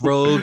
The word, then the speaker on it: Rogue: It's pronounced Rogue, actually.